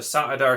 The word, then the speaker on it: saidar: just being overpronounced and if you look at it phonetically it's actually apparently sa dar and sa it di saadan so not even saidar